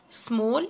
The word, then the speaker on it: small: بنقسم الكلمة i n t e s t i n e small intestine. حرف الـ A هنا بينطق O، بنقول small small small intestine.